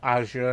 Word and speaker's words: Azure: And again, platforms like Amazon Web Server, Azure, or Azure, I should say, it's the proper way to pronounce it.